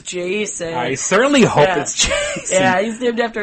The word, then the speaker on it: Jacen: Jason coming to play actually you know it's spelled j acen so it is still kind of vibes checking jackin oh my god I certainly hope not oh it's just easy